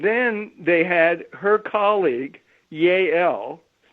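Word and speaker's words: Yael: they had her colleague yay l spelled with a y a e l and her colleague upon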